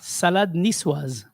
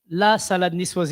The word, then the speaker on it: la salade niçoise: Salade niçoise. What happened to the la? La salade niçoise, if it was written down.